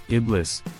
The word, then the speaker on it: Iblis: to Satan in Christianity Iblis emphasis on the second syllable is the Supreme demon